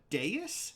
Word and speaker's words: dais: First off, for the record, people in chat, it was a dais? That's apparently how the word is pronounced.